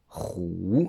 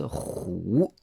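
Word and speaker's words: 虎: sachez qu'en tout cas le tigre se dit roux roues et ça fait vraiment penser aux rugissements du tigre c'est pour cette raison qu'il le prononce roues ensuite si on regarde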